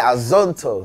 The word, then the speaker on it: Azonto: interesting because the song, Azonto, yeah. Did I say it right? You did, with an American accent. Yeah, I tried. But we say Azonto.